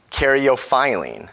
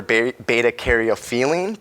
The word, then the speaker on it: caryophyllene: And actually my absolute favorite one, caryophyllene, which for the longest time I butchered her name and called her beta-caryophyllene, but it's phylline. You gotta get the phi out.